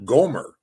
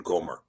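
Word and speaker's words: Gomer: This the spelling is uh gimmel mim rash not the o is invented by the mazerites in goomer.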